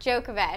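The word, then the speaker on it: Djokovic: Novak Jookovic.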